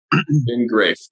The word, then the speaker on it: Graeff: Graeff.